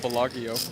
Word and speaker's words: Bellagio: You didn't call it Bellagio. Yeah. That's the correct Italian pronunciation.